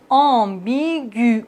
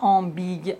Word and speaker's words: ambigu: Regardez bien, ambigu, on ne dit pas ambigue. Le tréma nous indique qu'il faut prononcer le U.